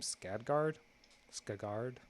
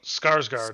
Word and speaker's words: Skarsgård: Skagard. Oh, Skarsgård.